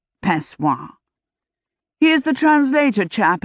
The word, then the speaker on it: Pessoa: He pronounced it, Pessoa.